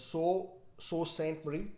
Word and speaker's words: Sault Ste. Marie: Well, I've been told it's not pronounced as salt or saw. It's pronounced as Sault Ste. Marie.